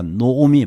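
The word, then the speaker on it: נעמי: 이런 질문을 가지고 자, 룻기 1장 15절에 우리가 읽었던 구절인데 나오미가 또 이르되 나오미의 히브리어가 노오미 발음이 정확한 발음이 노오미인데 유대인들도 많이 틀리더라고요.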